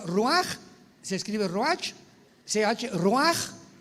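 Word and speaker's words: רוח: Apunta la palabra espíritu en el hebreo Ruach, con CH se pronuncia Ruach, como con J.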